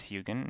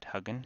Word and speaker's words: Hugin: so back to hugin I just actually learned it's pronounced hugin not huggen so I'll use that